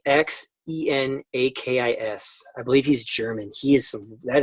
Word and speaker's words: Xenakis: Xenakis, how do you pronounce that? That's some wild stuff. Xenakis. Yeah, it's Xenakis.